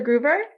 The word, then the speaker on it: Gruver: Gruber am i pronouncing your last name correctly you are yeah